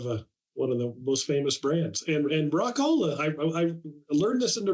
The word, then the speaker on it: Rock-Ola: But people would pronounce his name Rock-Ola, and he didn't like that. So he ended up putting the dash in there. So they had to pronounce the O.